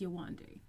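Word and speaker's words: Yewande: Listen, her name is Yawande. Her parents named her Yawande. I'm sure we've even whitewashed the pronunciation, but at the end of the day, it's Yawande.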